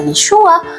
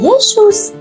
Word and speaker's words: Yeshua: Yin wain itu bacanya adalah Yesua bukan Yesus.